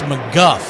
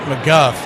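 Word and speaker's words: McGough: We had him before and I can't remember how you pronounce his name cuz it's not how it looks. Scott McGu Gh. I think it's McGuff.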